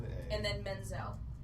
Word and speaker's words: Menzel: actual name is Adena Menzel spell that I iael yeah well menel is Menzel is how it sounds d i n everybody